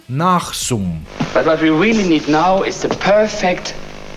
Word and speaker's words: Nasum: It's pronounced nothing like it look, Nachsum.